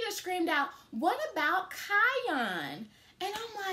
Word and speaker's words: Kion: so google actually um spells his name as k-i-o-n kion is how we're gonna pronounce it and it means warrior and i